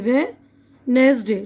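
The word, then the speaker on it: Wednesday: ठीक है नाय देखिए वे नेस डे डी साइलेंट है यहां पर तो उसको बुध को बोलते हैं वेनसडे इस ऐसे दूसरे बहुत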